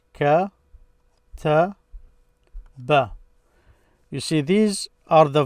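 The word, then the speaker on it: كَتَبَ: So kataba, that's how it's pronounced and written in the past.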